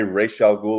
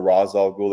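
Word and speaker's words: Ra's al Ghul: out there because they it's like if you say Rael ghoul or razal ghoul it depends on who's who pronounces it either or we'll accept it but it's one of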